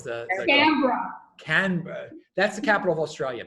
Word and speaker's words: Canberra: I can't pronounce the Canberra. Canberra.